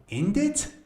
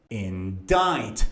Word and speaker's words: indict: C is silent. So, indict? No. Indict. Stress is on the second syllable.